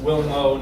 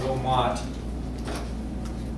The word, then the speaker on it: Wilmot: Congressman David Wilmo of Pennsylvania it's pronounced Wilmo, not Wilmot.